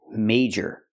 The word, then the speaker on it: major: boot a minor problem remember the pronunciation major use the long a plus the J sound like in juice and jump major major and minor